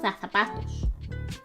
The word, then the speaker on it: zapatos: Tus zapatos. You gotta say it like you're from Spain. Zapatos. Use TH.